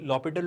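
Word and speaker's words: L'Hôpital: and what does लॉपिटल rule से, लॉपिटल rule कहता है, यहाँ पर एच साइलेंट है स्टूडेंट्स, तो लॉपिटल रूल क्या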